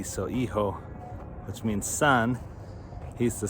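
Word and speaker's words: hijo: spell e-ho it's h-i-j-o in spanish the h is silent and the i is pronounced e so iho which means son he's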